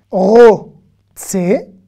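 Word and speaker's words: רוצה: Ani, ro, tse, le E se prononce pas.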